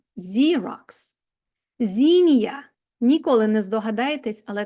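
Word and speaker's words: Xerox: чуємо з zeroк тактак Це той самий ксерокс Але читається zerx знія ніколи не здогадаєтесь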